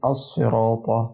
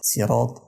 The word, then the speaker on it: الصراط: الكلمه اللي بعد كده الصراط سيرات كده انا قلبت الصوت س وكده غيرت الحرف وبالتالي غيرت المعنى وده زي ما احنا قلنا